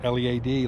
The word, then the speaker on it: Lead: to head to Lead, which is spelled L-E-A-D like lead, but they pronounce it Lead because they spell it the same.